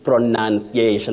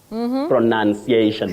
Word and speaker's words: pronunciation: leason not liason lastly pronunciation I know this one Betty will love it pronunciation not pronunciation Betty you remember that